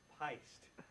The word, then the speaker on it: PYST: It's pronounced pist.